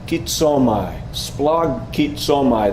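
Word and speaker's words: σπλαγχνίζομαι: Splagkitsomai. Splagkitsomai. There are a lot of consonants shoved together, so it's very hard.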